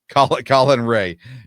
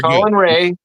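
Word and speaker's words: Colin Rea: He's a former Brewer, so it's Colin Colin Ray. I do know that. Okay. I'm sorry. I'm sorry. Colin Ray.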